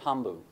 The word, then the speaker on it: tambu: in Fiji, they have a concept called tambu. It's actually a word that we have in the English language, but the British, who always seem to misunderstand local words, mispronounced it and became the word taboo in English.